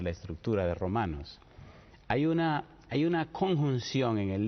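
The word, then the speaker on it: οὖν: apasionante hablar de la estructura de Romanos hay una hay una conjunción en el libro que aparece muy frecuentemente en griego se escribe own se pronuncia un y se puede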